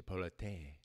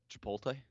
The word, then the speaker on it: Chipotle: it I I have no how do you pronounce it say polity P ratio I just sound a little warning coming off your tongue say it again Chipotle Chipotle Chipotle Chipotle uh P of a hundred